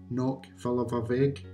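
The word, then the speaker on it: Cnoc Fillibhir Bheag: The Gaelic name for Callanish III is pronounced Nóc Filleadh Bheag.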